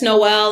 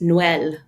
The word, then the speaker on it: Noel: It's like the first Noel. And if you want to be pinky in the air, it's it's pronounced Noel.